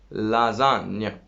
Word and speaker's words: lasagna: Well, G, I said, is affecting on N. What is the effect? It makes N beautiful. How does it make it beautiful?